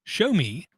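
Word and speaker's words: Xiaomi: like two years ago we were told that show me spelled with an X in the beginning show me was looking at making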